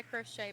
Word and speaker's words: crochet: they discuss crafts hi crochet by the way it's pronounced crochet croch new spells how